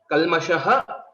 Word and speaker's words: कल्मषः: So, kalmashaha. Kalmashaha. Again, shakara. We'll have to ensure we pronounce it rightly by rolling back our tongue.